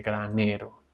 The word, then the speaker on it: granero: empieza a descender ese granero con el acento en ne.